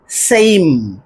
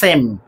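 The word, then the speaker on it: same: লাস্টে এস এ এম ই এটার উচ্চারণটা সেম নয়। সেইম এই এসই আই এম।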